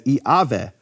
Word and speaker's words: Yahweh: But Yahweh actually would be pronounced in certain periods of history of Greek as Iaveh.